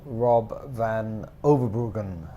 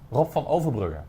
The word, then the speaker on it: Rob van Overbruggen: So welcome, it's Richard Flook, and I have here the wonderful Rob van Overbruggen, who, did I pronounce it?